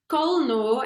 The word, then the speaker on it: Colnot: It's Colno, and it's spelled Colnot.